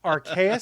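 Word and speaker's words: Arceus: one is pokemon legends archaic i believe is how you say it it is an open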